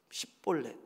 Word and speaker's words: 십볼렛: 십볼렛. 근데 에브라임 사람들은 이 발음이 안 된대요.